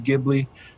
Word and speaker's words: Ghibli: call it jubilee and it's actually more like jibbery you know but but you know to kind of you know make it english more so it's it's more like ghibli so they say the j italians say the g so you know both ways are correct depending on how you